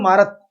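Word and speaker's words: Marat: तो मारत ने क्या बोला भाई, मारत या मरा भी बोल सकते हैं आप इसको, टी यहाँ पे साइलेंट है, ने अपने अखबार लामी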